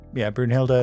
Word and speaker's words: Brunhilde: I wrote it down, but Brunhild is something. It's Brunhilde, and then the last name, which has one K and a silent T.